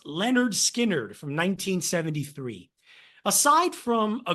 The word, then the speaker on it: Lynyrd Skynyrd: with the first one pronounced Leonard skinnard from 1973 aside from